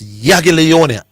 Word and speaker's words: Jagiellonia: So the just for the record, people, the spelling is Jagiellonia, but it's Jagiellonia.